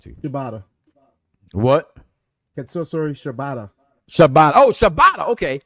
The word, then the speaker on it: Shibata: Shibata. Oh, Shibata. Okay. It's the first name I can't fucking pronounce.